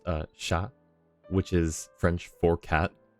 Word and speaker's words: chat: fren this word here is pronounced would be pronounced uh sha which is French for cat I don't think